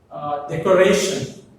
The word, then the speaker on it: decoration: The decoration has four syllables. One is decoration, ends in ION. So the stress falls on the second syllable from the end, right? So what is the second syllable in this word? Red. So red takes the stress.